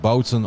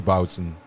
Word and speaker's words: Boutsen: between Arash competition and bowsen or bsen in the Flemish part we say boutsen yeah I guess the the the Boon would more be the woon or French way of saying it right yeah probably yeah because